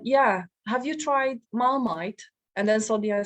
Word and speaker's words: Marmite: for the English pronunciation so this is why she used Mar meat instead of marmite oops now for the